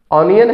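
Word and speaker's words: onion: ये लफ्ज़ अक्सर हम गलत प्रोनाउंस करते हैं। ये लफ्ज़ ओनियन हम पढ़ते हैं, ऑनियन पढ़ देते हैं, कोई ओनियन पढ़ देता है ना। तो ये लफ्ज़ ऑनियन है ना, आनियन है ना, ओनियन।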